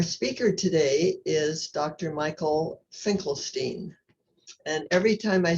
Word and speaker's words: Finkelstein: Michael Finkelstein. And every time I say his name now, I think of Bruce Springsteen, because when I asked him how to pronounce it, he said it rhymes with Bruce Springsteen.